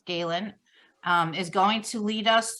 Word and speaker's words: Scalan: The longest time my brain kept telling me Scanlon, but it's Scalan, is going to lead us through the process.